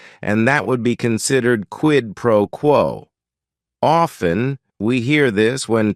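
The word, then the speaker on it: quid pro quo: right here quidd proquo it is three words each word is only one syllable and if you're saying it together the stress is kind of on that first word and that last word quidd proquo what this means is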